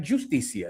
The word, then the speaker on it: justicia: I like justicia. Is that good? Well, what's more normal to say? Justicia. So to not pronounce the J like a J, but to pronounce it like a H in English.